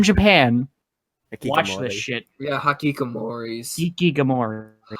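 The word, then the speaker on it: hikikomori: Yeah, Hakikomoris. Ikigamori. Hakikomori. That's how you pronounce it.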